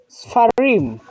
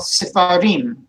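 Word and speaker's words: סְפָרִים: But then when we go to the plural of book, books, how would we pronounce that, Joseph? Sfarim. Well done. Together all, sefarim.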